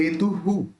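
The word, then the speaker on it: हेतुः: अब देखिए यहाँ पे त है, उसके अंदर ऊ मिला हुआ है, तो अपन भी ह के साथ ऊ मिला के हु इसका उच्चारण करेंगे, हेतु हु, कैसे, चाम्र चारु कलिका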